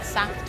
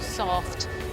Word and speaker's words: SAFT: looking at things like um Saft or soft depend depending on how you um how you like to pronounce it there has in recent